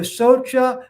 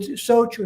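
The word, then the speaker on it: shaucha: a r sound not an ah sound so you should say ah that would be wrong but search or socha like a little small a sound a little small um depending where you go in india they would socho socha that's okay but not uh so it's kind of like a muted a so or socha you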